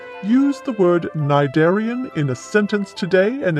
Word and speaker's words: cnidarian: cheerio thank you chuck i had been pronouncing it sniderian so now i know the correct pronunciation and that's always good